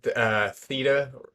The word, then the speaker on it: theta: And I said theta.